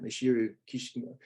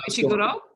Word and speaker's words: Ishiguro: Ishiro Kishima. It's gone. Ishiguro?